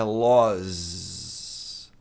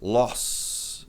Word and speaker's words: laws: É los a maioria das pessoas pronuncia esse S com som de S mesmo. E tá errado. Tem regra para saber quando S tem som de Z. Ainda vou fazer esse vídeo. Se você pronunciar com som de S, loss, você vai estar pronunciando perda.